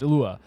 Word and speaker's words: Illuga: It's the G is silent, Illuga. And I saw all the people gathered around him.